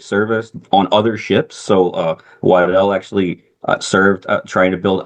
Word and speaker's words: Waddell: Um, so Commander James Waddell, is that how you pronounce that? Yeah. hmm Waddell.